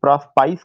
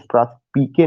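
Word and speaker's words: Prospice: जो प्रोस्पिके है, कुछ लोग इसका प्रोनाउंसिएशन प्रोस्पाइस करते हैं, मैं भी कभी करता था, लेकिन the correct pronunciation is प्रोस्पिके, no doubt at ऑल।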